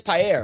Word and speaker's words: paella: It's paella, right? It's like it's the double L's. It's a it's a Y.